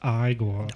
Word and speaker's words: Igor: He is named Igor. No, it's pronounced Igor.